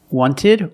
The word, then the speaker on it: wanted: Wanted or wanted. It's more common to hear Americans say wanted. You have NT in the middle, the T is silent.